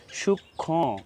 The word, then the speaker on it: সূক্ষ্ম: মফা সংযুক্ত হওয়ার কারণে ওই বর্ণটি সামান্য নাসিক্য হবে। এখানে সূক্ষ্ম, খ, এখানে নাসিক্য, খ, সূক্ষ্ম, লক্ষ্মী, লক্ষণ, যক্ষা, এখানে সামান্য নাসিক্য উচ্চারণ করতে হবে মফালা সংযুক্ত হওয়ার কারণে।